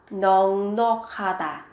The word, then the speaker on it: 넉넉하다: Các bạn chú ý về cách phát âm với từ 넉넉하다, các bạn cần biến âm 넉넉하다, 넉넉하다 đầy đủ sung túc.